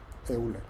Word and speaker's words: Euler: ese punto de vista se le llama O eilerian por Oiler, euler, Oiler se se pronuncia, ¿eh?